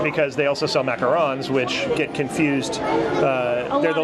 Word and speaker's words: macaron: Right, because they also sell macarons, which get confused. They're the little sandwich ones, the French ones that are, and pronounced macaron because they're French.